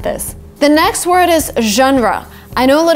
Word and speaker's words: genre: I know a lot of people say genre which is again kind of logical when you try to read the word but because it's a foreign word we say genre genre outselling every genre